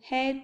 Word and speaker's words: heir: Some words begin with a silent So we use an before them. He is an honest man. He is an heir to the throne. I met him an hour ago. H silent.